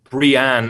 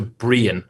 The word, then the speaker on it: Brian: Well, some people do get stuck on Brienne as opposed to Brian, right?